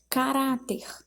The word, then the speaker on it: caráter: Na letra B, caráter. A sílaba rá, já que é a penúltima sílaba que é tônica.